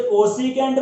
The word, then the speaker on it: कोसिकेंट: इसे कोसिकेंट बोल दो या कोसेक बोल दो, ठीक है।